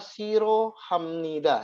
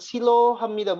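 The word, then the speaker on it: 싫어합니다: disitu ada disini adalah Siro Hamnida ya Jadi bukan bukan bukan Silo Hamnida Bukan tapi dibacanya Siro Hamidah Nam haknya dibaca Dibaca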